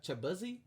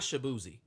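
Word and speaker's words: Chibueze: call him shabzi when his actual surname his Nigerian surname is is chak CH chuzi chuzi it's it's not shabzi it's the way that his white roommates pronounced his surname and he turned it into his stage name yeah it be it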